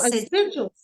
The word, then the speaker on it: sigil: know is aware of the witch is a sigle I believe that's the correct pronunciation yes Sig so sigil yeah a Sigil s i g i l